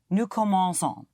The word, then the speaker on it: commençons: Nous commençons. Nous Yes, but you hit the ending. Nous commençons. Nous commençons. Once more? Nous commençons. Son. Nous commençons. Yes, but hit the ending.